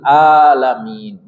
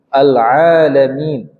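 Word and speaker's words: العالمين: itu G fatal ya yang fatal itu contohnya rabbil alamin dibacanya alam alam artinya nyari nyeri sakit rabbul alamin Ain huruf Tengah tenggorokan bukan huruf hidung ya alalamin kemudian jadi kesalahan itu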